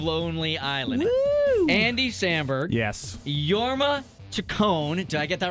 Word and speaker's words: Jorma: who consists of Lonely Island Andy Samberg yes yorma tone did I get that right tone but was the first name amazing pronunciation dang it I'm going to totally butcher